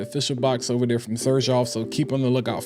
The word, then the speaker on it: Xerjoff: I wanted to kind of say this Xerjoff, and I'm saying Xerjoff because that is the correct pronunciation. It is not Xerjoff, it is Xerjoff.